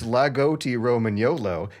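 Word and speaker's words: Lagotto Romagnolo: logoto roman the roman yolo lugoto roman gnolo pronounced lagoti roman yolo is a breed of dog from northern italy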